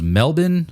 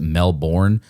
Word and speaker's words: Melbourne: And then I think after that was Melbourne. I think we in the US pronounce it Melbourne, but I think it's Melbourne, if I'm not mistaken.